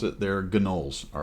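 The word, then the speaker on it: gnoll: being attacked by gnols okay that's how you pronounce it they're gnols all right and they had flights with them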